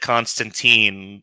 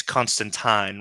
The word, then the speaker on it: Constantine: Uh you said Constantine rhymes with bean. My name's Constantine rhymes with wine.